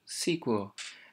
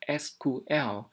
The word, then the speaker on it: SQL: có thể sử dụng sequel đó là cách phát âm cũ và bình thường thì chúng ta sẽ phát âm là SQL việc đầu tiên chúng